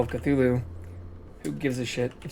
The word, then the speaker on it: Cthulhu: Cthulhu and the Frog. Chootaloo is how we originally pronounced it.